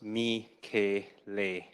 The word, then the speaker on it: Michele: For the ones that don't know how to read Thai, it's pronounced Michele.